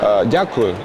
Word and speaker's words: Дякую: Дякую.